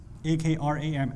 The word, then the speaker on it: Akram: A-K-R-A-M.